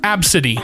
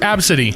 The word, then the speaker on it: Abcde: ABCD pronounced Absidy. Ugh, gross. Oh, ABCDE pronounced Absidy.